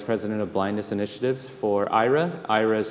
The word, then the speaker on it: Aira: I am the Vice President of Blindness Initiatives for Aira. Aira is spelled A-I-R-A.